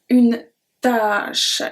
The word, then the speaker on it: tâche: Une tâche. It's a task. The other one is une tâche. Tâche, which is a stain. So une tâche with the accent circonflexe, we pronounce it longer because une tâche, a task, takes long time usually.